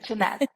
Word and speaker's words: Shahnaz: Is that how I pronounce your name? Yes, that's how you pronounce it, yeah. Shahnaz.